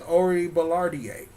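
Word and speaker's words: Orie Ballardiae: So, her name is Ori Ballardier. That's, I-A-D is pronounced A.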